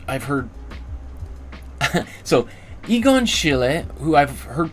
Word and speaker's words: Egon: I've also heard instead of Egon Aegon so uh or Aegon yeah Egon Aegon a or I don't know anyway Egon Shile is